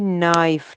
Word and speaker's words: knife: KNIFE नाइफ, ठीक है, यहाँ पे भी के साइलेंट है, मतलब ये पढ़ने में नहीं आएगा, ठीक है।